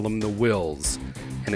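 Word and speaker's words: Whills: differently than we do i call them the wills and it's spelled w-h-i-l-l-s and the wills are the ones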